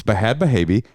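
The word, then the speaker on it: Bhad Bhabie: and Howard Kramer went first of all you're mispronouncing her name and the other name it's bad bavi and Dr fahil all right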